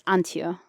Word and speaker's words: Antje: Is the J silent? Like, what the hell? Well, it depends on if you ask an American or a German.